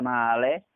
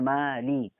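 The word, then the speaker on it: مالك: Kemudian male sama mali, bacanya kasrah sempurna tipis. Nggak boleh dicondongkan ataupun diimalahkan seperti sehingga male sama mali.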